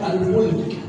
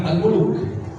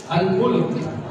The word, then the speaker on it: Al-Mulk: Surat Al-Mulk, bukan Al-Muluk. Surat apa? Bukan Al-Muluk ya, jangan salah ya. Jangan yang kayak nenek yang itu loh. Al-Mulk.